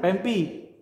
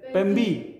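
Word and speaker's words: πέμπει: Ya, mi dengan pi bacanya Pempi. Pempi. Mi dengan p bacanya b. Mi dengan P. Pembi. Iya, bukan pempi. Pembi. Pembi.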